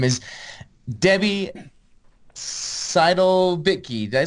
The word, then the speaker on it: Seidel-Bittke: Her name is Debbie Seidel-Bittke.